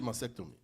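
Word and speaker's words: mastectomy: it was a double masectomy right Y which if I was break mactom M momy mhm m is M told me the t is a little silent okay so that's what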